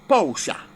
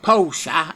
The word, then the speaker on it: Porsche: But he also started bringing in a thing called Porsche. And if you don't know how to pronounce Porsche, because that's how you pronounce it in England, it's Porsche anywhere else.